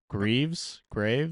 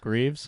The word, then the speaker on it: Greaves: I always say his name wrong. Graves? Jet Greaves.